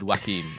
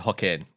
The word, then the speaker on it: Joaquin: bit I mispronounced Phoenix he said Wakim I said Hawkin is that right I think we've had